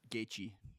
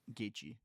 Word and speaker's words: Gaethje: How do you pronounce his name? Justin what? Gaethje. Gaethje? Gaethje.